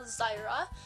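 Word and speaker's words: Zaira: My sixth doll is American Girl Ivy Ling, who we call Zyra, and it's spelled Z-A-I-R-A.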